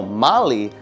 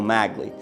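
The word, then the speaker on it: Magli: I think it's hilarious the way in which Christopher a real Italian mispronounces Bruno Mali as Bruno magley during the OJ Simpson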